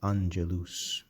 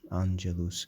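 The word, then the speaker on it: angelus: The word for angel in Latin is anelus. Anelus.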